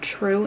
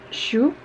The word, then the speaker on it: Zhu: I think Zhu and it sounded like she was pronouncing it true in the book but I think it's shoe she took on her